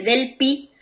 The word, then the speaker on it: Delphi: leer que se escribe Delphi, ¿no? Pero como se pronuncia, lo seguimos pronunciando de acuerdo a su idioma madre, que es el inglés, y ahí se pronuncia Delphi.